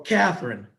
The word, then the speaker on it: Catherine: Or Catherine, two syllables.